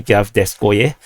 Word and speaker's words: Hvardiiske: The actual Russian name is actually Hvardiiske.